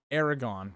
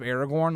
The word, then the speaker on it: Aragorn: can I find that they say Aragon instead of Aragorn, like how it's supposed to be pronounced?